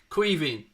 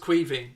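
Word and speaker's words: Caoimhín: Queeving. So, who was it asked the question? Sorry. Aaron, it's pronounced Queeving. It's the Irish for Kevin.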